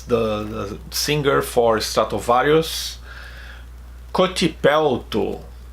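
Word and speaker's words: Kotipelto: the singer for Stratovarius, Cotipelto. We could have something like this in Portuguese, but with a C instead of a K, Cotipelto. But it's pretty much how I pronounce.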